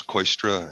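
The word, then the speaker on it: Kooistra: members of the committee my name is coystra and i'm the general manager of metro transit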